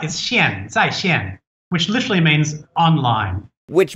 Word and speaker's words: 线: zai and the one on the right is sheen which literally means online which means online in